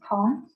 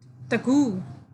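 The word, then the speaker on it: tongue: okay tu and gues how to pronounce it's tom yeah please don't say taku please don't say tango okay t-1 g-u-e tangu no okay you have to pronounce with tom and then it say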